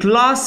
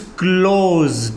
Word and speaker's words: clause: Clause के तीन तलफ़ुज़ हैं. या तो आप ब्रिटिश इंग्लिश में कहेंगे close, इसको आप थोड़ा ग्रेव साउंड में कहेंगे, you'll say close, right? और आप इस तरह प्रोनाउंस करेंगे अमेरिकन इंग्लिश में clause. Are you getting it? और ऑस्ट्रेलियन इंग्लिश में clause कहेंगे, clause. Okay? So close and close. Three pronunciation are there of this word.